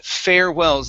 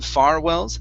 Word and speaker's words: farewells: here we have uh farewells instead of farwells fair farewells there you go good